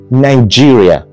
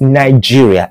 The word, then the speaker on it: Nigeria: gave us that name Nigeria actually they didn't give us Nigeria it was Nigeria we have been pronouncing our country's name all wrong yes it is not Nigeria it is actually Nigeria you can take it